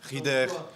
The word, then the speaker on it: Rieder: Comment est-ce qu'on prononce ton nom? On dit Rieder, Rieder, Rieder, Rieder? C'est égal, Rieder. Tu fais quoi? Fabian Rieder.